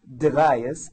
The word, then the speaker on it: Degayes: to introduce my guest and he is deas and I hope I pronounced your last name right that's right and